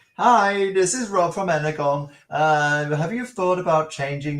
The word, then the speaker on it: Energon: Energon, I know we pronounce it Energon, but G plus O. Hey, I'm a language teacher. G plus O cannot be a soft G. It's a hard G. So it's either Energon or it's wrong, right?